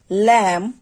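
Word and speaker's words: lamb: যেমন শব্দের শেষে যদি এমবি থাকে তাহলে সেক্ষেত্রে শেষের যে বিটা থাকবে সেটাকে উচ্চারণ করতে হবে না বা সেটা উচ্চারিত হবে না।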